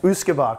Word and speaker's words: Usquaebach: Usquaebach, correct, Usquaebach.